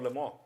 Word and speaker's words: Le Mans: So Stanley Moss was Le Mans, as in Lemont. Okay, no, not like that, Le Mans.